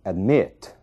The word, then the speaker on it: admit: Observem o verbo admit. A sílaba tônica é o mit, né?